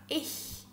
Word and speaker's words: ich: Então você vai colocar a sua língua atrás desses dentes inferiores aqui, assim, e aí você vai soltar o ar. Então vai ficar assim, ó, ich.